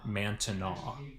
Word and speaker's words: Manteno: wasn't of course said Mantino the the French Canadians I believe pronounced it mantana so it's like Bourbonnais